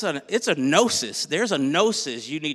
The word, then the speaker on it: gnosis: Greek word is gnosis. It has a silent G at the beginning, G-N-O-S-I-S.